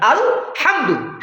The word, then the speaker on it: الحمد: আল আল আল, এটাকে জোর দেওয়া হয়েছে। আল মানে সঠিক, এটাই, এই সব কিছুর প্রশংসা, এই জন্য এটাকে শক্ত করে উচ্চারণ করতে হবে।